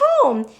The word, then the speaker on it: home: or E good but in this word the E is silent because e has lots of jobs and we're gonna go